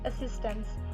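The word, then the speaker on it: assistants: in the spelling however both are pronounced in the same way assistance and assistance although in the second word we have a t uh we do not hear the sound of the tea because it is softens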